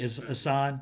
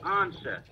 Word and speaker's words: Ansah: saying, McDowell, Sue, Ziggy Hassan. Yeah, thank you. That's the other guy, Ziggy Hassan, Ansah. Oh, you be saying? Oh yeah, I remember. I remember you be saying his name wrong. It's Ziggy Ansah.